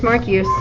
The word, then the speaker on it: Marquis: No, it's Marquis. Marquis. Make them do it. They can't pronounce The I'll Marquis.